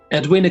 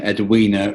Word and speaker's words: Edwina: I think the name Edwina rhymes with other Christian names, for example, Christina.